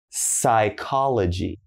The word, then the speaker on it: psychology: So as you notice, PS is very common, but don't say the P, all right?